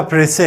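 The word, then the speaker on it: précis: जो आपका प्रसे है। सबसे पहले तो आप प्रसे की स्पेलिंग सीखें।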